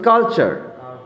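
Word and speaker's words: culture: তারপর আছে কালচার, CUL, TURE, কালচার। কালচার। কালচার মানে কি? সংস্কৃতি। জেস্টার, পরের শব্দটা দেখো, জেস্টার।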